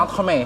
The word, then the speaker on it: entremet: Misalnya entremet, tapi bacanya entremet.